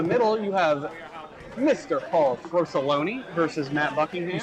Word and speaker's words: Frosoloni: Paul Frosoloni versus Matt Buckingham. You spelled his name wrong. I did, didn't I? The A is supposed to be an O. There are 3 O's in Frosoloni.